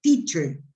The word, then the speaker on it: teacher: Le puse una T delante para poder hacerlo más fricativo. Es teacher. Teacher. Ujú.